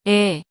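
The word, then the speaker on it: 애: This vowel is 에, 에, It sounds like A in the word apple.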